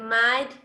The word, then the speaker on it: might: O sea, la H, la GH, el sonido de la GH no suena.